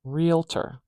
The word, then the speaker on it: realtor: word in this option realtor realter we have the stress at the beginning I'll say this a few times realtor real letter the stress is in the same place it's on the first syllable and we know it's